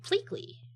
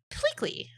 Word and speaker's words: Pleakley: Pleekey. Pleakley. Pleakley. It's Pleakley. It starts with a plea. And ends with a lee. Pleakley.